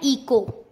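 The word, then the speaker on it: echo: इसको ईचो नहीं पढ़ेंगे, CS से चा बोलते हैं ना, तो इसको ईचो नहीं पढ़ना है, इसको क्या पढ़ना है? इको।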